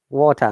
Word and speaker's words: water: Potter, water, no R sound.